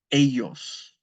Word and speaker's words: ellos: There's that double L. It's ellos.